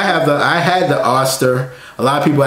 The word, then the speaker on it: Oster: that I had the Oster a lot of people ask me about that Oh stir as to how you pronounce it on the French door